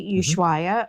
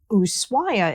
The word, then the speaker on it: Ushuaia: Now, the city can be pronounced either way, Ushuaia or Ushuaia is actually the Argentine way to say it. So Ushuaia.